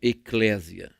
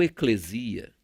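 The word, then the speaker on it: ἐκκλησία: foi escrito em grego ela é pronunciada como Eclésia ou eclesia que significa literalmente uma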